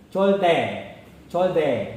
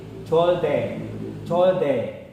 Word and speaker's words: 절대: Jadi perbatasan D dan T pelafalannya. Jadi supaya kalian tidak bingung. 절대. Jadi terdengar suara pelafalannya D dan T. 절대.